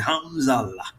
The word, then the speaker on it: Hamzaullah: It's not Ullah, it's Hamzallah.